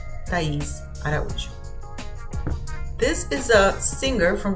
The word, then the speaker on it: Araújo: So here you would pronounce the letter I with strength, the same way with the letter U, with strength because the accent is on top of it. Ela é Thaís Araújo.